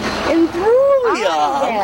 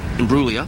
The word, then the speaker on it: Imbruglia: Natalie Imbruglia. The That's G, right. the G is silent.